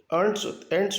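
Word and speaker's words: ant: Soldiers, जो सैनिक एंट्स होती हैं, आंट भी कह सकते हैं, एंट भी, दोनों उच्चारण होते हैं।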